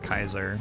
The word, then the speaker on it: Caesar: son ever again the Caesar said with a hard C or a soft C Latin C's were hard but I'm not currently speaking Latin so you know but yeah it's pronounced Kaiser which is why all